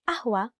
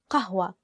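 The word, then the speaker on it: قهوة: for the word ahua the actual Standard Arabic word is kahua with the letter cough but isn't it up to make it easier to pronounce we use the word we use the letter A and sometimes for non-arabic speakers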